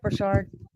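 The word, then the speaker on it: Burchard: right now by Brendan Berard BR Brash yeah is that how you say it brashard yeah sorry that was like way too Americanized the way I said it no you're good pronunciation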